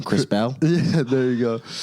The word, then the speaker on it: Krispel: so much what's up bro and uh you butchered the name by the way what's the name chris bell yeah there you go it's okay it's just